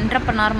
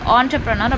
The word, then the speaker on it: entrepreneur: So first வந்து உங்களுக்கு நீங்கள் இந்த வேர்டை பார்த்தீங்கனாலே இது என்டர்ப்ரனர் மாதிரி இருக்கும். நானுமே ரொம்ப நாள் வந்து இது என்டர்ப்ரனர் அப்படின்னு தான் சொல்லிட்டு இருப்பேன். பட் நம்ம அது வந்து ஆண்டர்ப்ரனர் அப்படின்னு தான் ப்ரொனவுன்ஸ் பண்ணணும்.